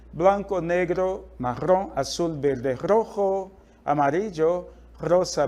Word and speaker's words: rojo: vermelho na língua espanhola justamente essa palavrinha aqui Rojo Olha a pronúncia Rojo professor e o bege a cor eu não